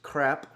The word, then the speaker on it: crepes: We're going to be making some wonderfully delicious crep. I guess in France they don't uh pronounce the s at the end, so it's not it doesn't sound like it's plural, but it is.